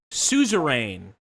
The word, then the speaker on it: Suzerain: wants to know the name of the game suzerain is the name of the game spell it for them s-u-z-e-r-a-i-n suzerain we love it um so oh so